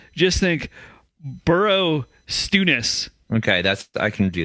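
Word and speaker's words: Borrowstounness: call it bonus but the name is actually burrow stewness oh bro okay yeah yeah so it's b-o apostrophe it's on the south side yeah ness but yeah when i when i say bonus just think burrow stewness okay that's i can do that yeah sorry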